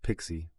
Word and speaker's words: PKCE: PKCE, pronounced Pixie, fixes this without a secret at all.